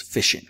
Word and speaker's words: phishing: the first question is how do you pronounce this word well that is fishing what is fishing sometimes